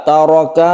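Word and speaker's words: تَرَكَ: Nisfu ma taraka, taraka roknya agak ditebalkan karena rok yang berfathah itu membacanya tafkhim atau ditebalkan. Azwajukum, kemudian di sini kadang-kadang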